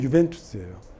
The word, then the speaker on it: 유벤투스: 그게 유벤투스예요. 발음이 UJ라고 썼는데 U라고 읽는 거잖아요.